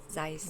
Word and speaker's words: Zeiss: How you pronounce it? Zeiss.